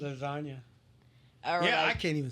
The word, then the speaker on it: lasagna: one for me cuz that g that silent G lasagna yeah I can't even